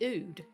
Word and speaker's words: Ood: The Ood. The Ood is right. I wasn't sure how to pronounce that, but I'm glad you nailed it. It's not Ood.